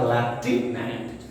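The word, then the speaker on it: Lieutenant: एंड LUT जो है एंड पढ़ने हैं, यानी आपको याद रखना है लेफ्टिनेंट। तो आप सही प्रोनाउंसिएशन कीजिए, यह है लेफ्टिनेंट।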